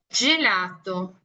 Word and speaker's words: gelato: Nuestra G siempre se le asocia con lo que es un sonido de D con Z. Ejemplo, esto puede ser con la D, Z, I y D, Z, E. Por eso G, G, G, G. ¿Ok? Obviamente en el italiano esto se va a escribir como G con I y G con E.